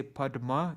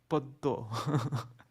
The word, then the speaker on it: padma: But in Bengali, in Bengali pronunciation, when there's a conjunct with words like, they don't say padma, they say poddo.